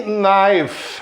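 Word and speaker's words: knife: cavalheiro ou cavaleiro deve naif reparem a letra k antes da letra n não se pronuncia mais uma vez essa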